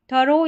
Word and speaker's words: thorough: यहाँ पर थरो या थोरो करके दोनों तरीके से आप प्रोनाउंस कर सकते हैं, पढ़ सकते हैं।